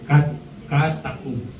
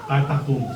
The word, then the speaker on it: catacombs: Ang tawag po diyan ay catacoms. Ano? Catacombs. O yun na yung pronunciation doon.